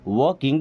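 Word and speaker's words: walking: आई एम वॉकिंग, आई एम मैं हूँ, वॉकिंग देखिए यहाँ पे एल साइलेंट।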